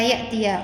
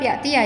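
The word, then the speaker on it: يأتي: Jadi membacanya tetap yatiah ya, bukan yati karena memang asli asli fathah.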